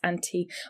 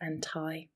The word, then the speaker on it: anti: So, two different words, both pronounced anti. Or in American English, anti with an I might be pronounced anti.